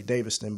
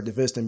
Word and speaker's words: Daviston: Well, back home and back in Duquesne, everybody in the family they say Daviston, but I prefer DeViston because people misspell my last name wrong, like Davison or Davison. I was like, what? And it's actually Daviston, so I was like, you know what? I just prefer DeViston because that's better sound pronunciation than Daviston is.